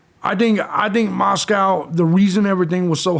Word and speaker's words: Moscow: Idaho College Town of Moscow pronounced like the Russian Capital but to rhyme with Costco I don't give a